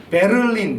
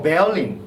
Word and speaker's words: Berlin: 를 이렇게 이런 걸 을 이런 발음으로 넣어서 베를린 이렇게 발음을 하는데 사실 때 알림 뭐 어떠한 이런식으로 바르 밑에 있고 잘난 사람들 보다 베어링 이라고 하니까 그렇습니다 아 얼른 팬들에게는 왠지 배낭의